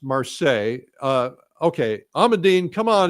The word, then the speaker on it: Marseille: How do you pronounce it in France? It's actually Marseilles. Marles. Marseilles.